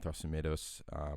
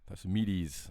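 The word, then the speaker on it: Thrasymedes: who's was Thrasymedos, and Thrasymedos, is that how you say his name? Yeah, I mean Thasumede, you know what I mean? That's pretty Thasumedes, I guess.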